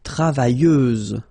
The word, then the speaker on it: travailleuse: Feminine form, travailleuse, same rule and same phonetical thing, you don't pronounce the final S, so you get travailleuse.